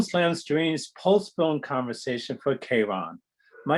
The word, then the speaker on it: Charon: a moment and um the pronunciation in english is k-ron and uh there's a different pronunciation in french can you tell us that pronunciation and also what the meaning behind this word is yeah no problem so the in french the the film is called karun uh and it's about